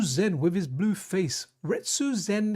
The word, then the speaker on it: Retsu: Retsu Zen, he rhymes with Ken, and Ken is one of my guys in Street Fighter.